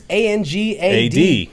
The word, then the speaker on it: Angad: Indian names, obviously, and Angad is like, it's not a super hard name to say. No, it's but pretty it's much weird. It's pretty much pronounced phonetically. Yeah, it is. It's pronounced. It's Angad.